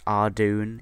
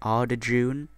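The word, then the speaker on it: Ardougne: more commonly missed words ardoon is a is a good example uh i remember when i called it ardajun no idea why i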